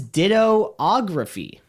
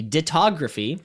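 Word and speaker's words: dittography: Next, what is dittoography? I believe it's pronounced actually ditography. Sorry if that Ditto is there 2 O's or 3 O's? No, just the 1 O. Yeah. 2 T's though. What is ditography?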